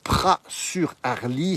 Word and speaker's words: Praz-sur-Arly: le petit village de Pras sur harly ça c'est écrit avec un Z mais on prononce pas le Z ici on est en